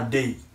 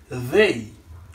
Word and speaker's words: they: il va prononcer day mais c'est la langue entre les dents pour capable prononcer th là c'est they ouais c'est pas day mais c'est they OK donc c'est I il et he.